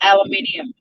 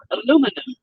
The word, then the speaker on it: aluminium: those things are called in the world says aluminium but not you aluminum there's an extra iron there pronounce it yeah there's fighting words look at